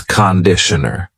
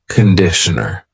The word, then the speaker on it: conditioner: and this is conditioner be careful of the pronunciation it's not conditioner it's conditioner the first vowel is awah conditioner conditioner and that is